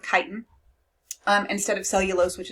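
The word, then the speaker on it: chitin: however is made with kiten is how you say that word so pronounce it with a k sound kiten um instead of cellulose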